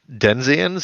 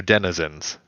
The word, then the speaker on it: denizens: out of our hair is the word denzians or denizens uh yes okay correct but um you pointed